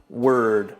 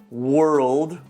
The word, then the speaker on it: world: word world mispronounced as word don't forget that dark l in there it's a great word to keep practicing world word world word if